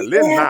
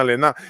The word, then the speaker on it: Lenah: toda a propriedade, que a pronúncia correta do nome é Dona Lena, não é Dona Lena. Lena. Porque o H faz o sinal, né?